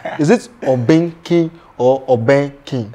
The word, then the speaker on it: Obeng King: The name Obeng King, I don't know if I pronounce it well. Is it Obeng King or Obeng King?